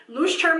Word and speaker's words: Leuchtturm: I did look up the pronunciation of this word. Leuchtturm 1917.